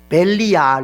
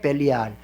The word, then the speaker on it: 벨리알: 근데 이게 발음상에 서로 차이는 있겠지만 이게 엄밀하게 더 이제 발음을 해보면은 벨리알 이렇게 되거든요. 베네 벨리알.